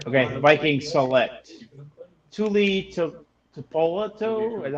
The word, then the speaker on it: Tuipulotu: Okay, the Vikings select Tuli Tuipulotu. Is that how you say his name? I'm defensive line for USC. Close enough. Yeah. Tuipulotu?